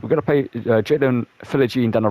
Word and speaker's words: Philogene: His last name's pronounced Philogene. I've been saying Philonge for the longest time, but it's Philogene. I thought it's kind of like French, so he didn't pronounce like the G or something like that. You know, it's kind of like silent. I'm like kind of like one of those. But it's Philogene and Archer.